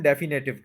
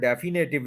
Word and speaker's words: definitive: Pronunciation पे working की तो पता चला कि ये वर्ड डेफिनेटिव नहीं है, ये है डिफिनेटिव, डिफिनेटिव, डिफिनेटिव। यानी DIH पहले बोलेंगे, डे, फिर FIN, फिन पे स्ट्रेस कर देंगे, डिफिन, और फिर आई है, और फिर टिव है, डिफिनेटिव।